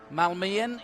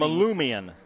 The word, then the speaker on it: Malumian: Now, you had a better pronunciation. Malmian? You got it right at the beginning. Malumian. Malumian. They call him Lou. Sounds like some outer space kind of... it sounds like how you guys say aluminum, and I think that